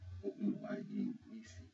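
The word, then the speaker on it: Oluwayemisi: It's spelled O-L-U-W-A-Y-E-M-I-S-I. Oluwayimisi. Oluwayimisi.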